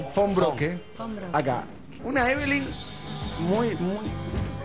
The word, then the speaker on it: Von Brocke: Evelyn, ¿cómo se pronuncia? ¿Bombroke? Fonbroke.